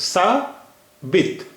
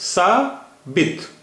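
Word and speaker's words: ثابت: So it will be pronounced as sa bit, beze b or te. Te is without te has no vowel sign, no diacritic, no vowel. So it is pronounced as sa bit.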